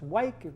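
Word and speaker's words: Wyke: person the two negotiators Charles white that is how I pronounce his last name w YK e and Francisco Martin on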